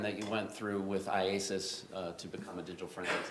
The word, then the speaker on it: IACIS: How do you say it? IASIS.